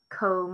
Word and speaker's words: comb: Comb has a silent B on the end.